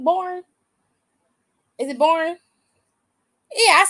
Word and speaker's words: Borne: is that his last name borne is it borne yeah I said it right I said it